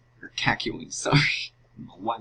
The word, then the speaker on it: Kakyoin: Alright, Kakyoin. Or Kakyoin, sorry. I don't know why the hell I pronounced it like that.